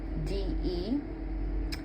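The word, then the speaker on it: Babatunde: The famed African drummer Babatu, now I hope I'm saying this right. It's Babatundé. And then the next one is, I believe, Olatunji. I'm gonna spell it out.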